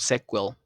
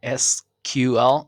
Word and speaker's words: SQL: then option that shows the correct pronunciation of sequel SQL in is this one but remember could be SQL or SQL both are right fomo is an acronym